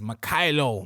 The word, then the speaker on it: Mykhailo: His name is MYKHAILO MUDRYK.